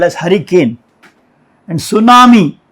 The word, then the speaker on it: tsunami: And tsunami, this T is silent here, the Japanese word.